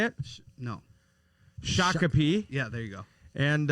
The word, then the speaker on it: Shakopee: shakopee is that how you say it no shakopee yeah there you go and uh you know